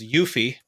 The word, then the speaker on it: UEFI: of one of the UEFI or what I'll pronounced as yuffie uh you know how the industry heads would pronounce it right um it's part of the yuffie standard if you will part of the specification